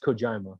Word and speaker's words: Kojima: games and they go it's pronounced kojima whatever the his name is